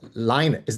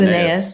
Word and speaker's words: Linnaeus: It's about the original taxonomist, the Swedish Linus, Yeah, is that how you pronounce Carl it? Linnaeus, Linnaeus.